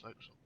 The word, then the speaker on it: forecastle: And remember, kids, the forecastle, although it's spelt forecastle, it is actually pronounced forecastle. There are a lot of ship experts out there who still can't get it right.